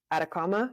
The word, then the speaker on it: Atacama: is you just completed the speed project but at a comma am I saying it right yes yes Chile